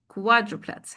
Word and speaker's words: quadruplets: Quadriplets. You see the underlined syllable here is the stressed syllable.